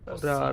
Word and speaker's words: possibile: We are actually pronouncing both of these S's.